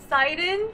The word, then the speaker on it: Seidon: it up pronunciation seidon seidon his name is seidon like Poseidon is that really how you